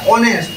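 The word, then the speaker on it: honest: आम लेखु एच ओ एन एस टी ओ उच्चारण है ओनेस्ट तेणु आन ओनेस्ट मैन तेणु ये देख हम्बुल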